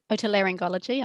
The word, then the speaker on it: otolaryngology: So we have one here called EAR, earlobe, who is, how do you pronounce that, Carmel? Otolaryngology.